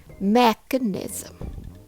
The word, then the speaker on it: mechanism: after few times me make sure the first syllable is strong and the rest flow smoothly remember English rhythm is all about alternating between stressed and unstressed syllables t t mechanism mechanism T me mechanism